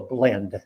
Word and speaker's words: Blind: spell pronounce her name just think of the wonderful mockumentary a mighty wind and remind yourself that it's until a blend being a german word and pronounced with a short eye now to go back